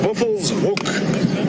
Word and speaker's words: Buffelshoek: The correct pronunciation is Buffelshoek, which translated basically means buffalo corner.